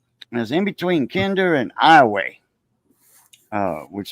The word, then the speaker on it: Iowa: of me uh is in between Kinder and iway uh which iway is a little town right outside of Lake Charles spelled like Iowa the state of Iowa but they pronounce it Iowa over there right so that little plan I